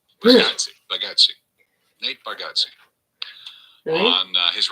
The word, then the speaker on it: Bargatze: He told us how to pronounce his name, Nate Bargatze. Really? Bargatze.